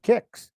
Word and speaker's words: Qix: We'll start with kicks, and there's been some discussion in the community lately about what the correct pronunciation of this is, and I will stand by the word kicks, Q-I-X.